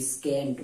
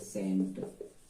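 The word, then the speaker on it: scent: इसको पढ़ के देखिए इसको पढ़ेंगे एस सी तो स्केंट बोलेंगे क्या बोलेंगे स्केंट तो इसको स्केंट बोलते एस साइलेंट कर दीजिए एस साइलेंट कर देंगे तो क्या होगा सेंट क्या हो जाएगा सेंट तो ये सेंट हो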